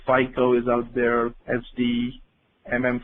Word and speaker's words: FICO: kind of familiar with Fi and Co finance and controlling typically pronounced as FICO is out there SD